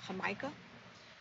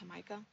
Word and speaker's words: jamaica: know they call it hamaika um it's mel it's spelled jamaica but they pronounce it hamaika but anyway so if